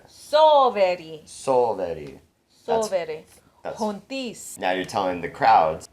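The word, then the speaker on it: hontes: I prefer the UK version with the sound H in it because H makes a H sound. Yeah. So I like this being pronounced as H. H. H-O-N-T-E-S. Hontis.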